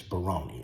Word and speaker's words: Baroni: Her name's not Barron, it's Baroni. I'll spell it in the comments.